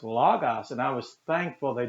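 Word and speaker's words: λόγος: like that though because someone corrected me when i'd say logos they said no it's logos and i was thankful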